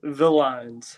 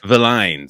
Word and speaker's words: Villines: Separate the L's, Villines. Villines.